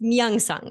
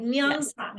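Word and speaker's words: 명상: book, now you pronounce it, I want to pronounce it right. Say it, it's very difficult, Hannah. It's Myeongsang, and it's translated as meditation. Right? Myeongsang.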